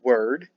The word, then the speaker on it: Wyrd: And of course, Wyrd is also pronounced word.